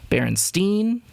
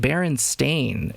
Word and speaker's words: Berenstain: e-i-n and being either being pronounced berenstein or bernstein uh but not baron stain and that's something that